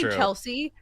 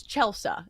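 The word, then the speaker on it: Chelsa: I understand my name is different cuz it's Chelsea. It's not Chelsea, but it's spelled exactly like it sounds. It's not one of those names that adds a bunch of vowels or consonants. Like, it's C H E L S A.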